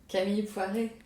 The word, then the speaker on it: Camille Poiré: Today, I am very happy to be joined by my lovely friend, Camille Poiré. Thank you for that beautiful French pronunciation, Camille.